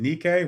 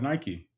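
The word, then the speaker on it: νίκη: Uh, uh, you would pronounce it Nike. We call it Nike.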